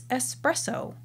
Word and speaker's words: espresso: in the sand in another orifice because it's espresso it's not like unless people express people also